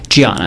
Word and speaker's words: Diana: Gianna. It's spelled with a D, but she's Brazilian. Okay.